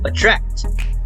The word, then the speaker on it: attract: you try to notice attract the stress is on track right so which is